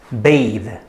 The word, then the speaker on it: bathe: have a bath and the first one the pronunciation is bath and the second one the pronunciation is bathe bathe uh as you can see there's a very big difference between these two words but they look almost identical to each other and the only way